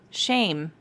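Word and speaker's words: שם: the root hebrew word for that phrase is pronounced shame in hebrew and i find that kind of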